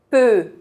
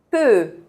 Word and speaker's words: peux: As letras E, U juntas têm esse mesmo som. Peut, je, peux, je, peux.